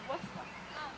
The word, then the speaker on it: Worcester: Hattie wouldn't say Worcester, she'd say Worcester.